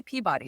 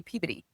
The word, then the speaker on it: Peabody: So they don't say Peabody, they say Peabody.